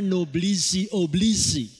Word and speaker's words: noblesse oblige: peribahasa di dalam bahasa Perancis tulisannya seperti itu bacanya noblesse oblige kalau diterjemahkan artinya di dalam nama yang luhur